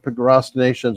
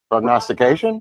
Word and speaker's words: prognostication: Ellen lickman and uh his progr procrastinations or how do you say that prognostication those pration prognostication right prognostication let's all say it